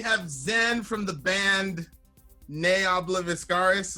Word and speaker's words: Ne Obliviscaris: Zen from the band nay I love ascaris is that right that's actually correct the pronunciations really yeah